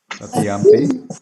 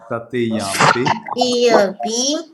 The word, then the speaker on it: Tatiyampi: Tatiyampi.